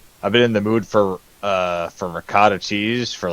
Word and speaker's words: ricotta: you guys got it got to pronounce it like a sloppy Italian all right when I